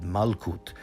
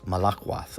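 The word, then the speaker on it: מלכות: So to explain what's going on here, originally in the first version they had Malkut, which they pronounce Malakwath, or more specifically they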